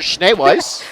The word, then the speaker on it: Schneeweiss: Schneeweiss. Schneewise. Weiss. Schneeweiss. We wrote it out phonetically.